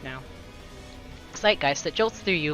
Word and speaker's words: zeitgeist: okay zeitgeist zeitgeist okay i know how it's pronounced now zeitgeist that jolts through you like light blasting down